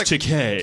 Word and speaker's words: Takei: we're like, it's pronounced Takei.